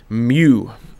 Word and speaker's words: mu: well that character is called a Greek Mew mu oops that's too many mu U it's just how you pronounce it and I believe